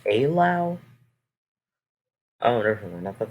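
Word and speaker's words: Eylau: minute look at that that's pronounced a loud oh never mind i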